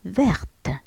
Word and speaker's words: vert: مثلا une souris verte. une souris verte. في المؤنث نزيد له E باش تولينا verte. إذن في المذكر نكتبوها avec un T à la fin qu'on prononce pas لا ننطقه. إذن vert هو أخضر.